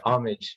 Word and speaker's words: Homage: Like you said Homage Studios. How do you spell that, or am I saying that right?